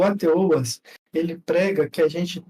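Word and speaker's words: HATEOAS: estudo mais abrangente sobre o que chamamos de ATOAs, tá? O ATOAs se escreve AHTOAS, ATOAS.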